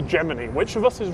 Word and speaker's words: Gemini: Well, I'm right, of course, because I took Latin, and in Latin, you pronounce Gemini, Gemini, just like you pronounce, well, even in English, you pronounce bikini, bikini. You don't say bikini.